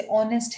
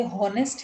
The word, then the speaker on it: honest: Words silent होता है, जैसे ऑनेस्ट है, हम उसको लिखते हॉनेस्ट है, HONEST, लेकिन पढ़ते ऑनेस्ट है, तो उसका प्रोनाउंसिएशन ऑनेस्ट है। अगर हम उसको हॉनेस्ट बोल रहे हैं वोकल बात करके, तो देन इट बिकम्स रॉन्ग, तो वो प्रोनाउंसिएशन हम ठीक नहीं कर रहे हैं।